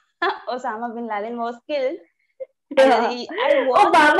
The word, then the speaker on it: Obama: Obama actually, it rhymes with Osama.